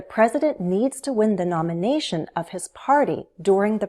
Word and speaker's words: nomination: Nomination. Nomination. Nomination. Primary stress is on the third syllable. Nomination.